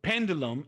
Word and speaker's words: pendulum: the end okay so pendulum and curriculum there they are the exceptions pendulum is stressed on the first level curriculum on the second